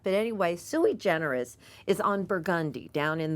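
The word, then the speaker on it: Sui Generis: out to everyone that I am pronouncing this correctly the name of the restaurant is suie generous that's how the owners say it and it doesn't spell like that but anyway suie generous is on burgundi down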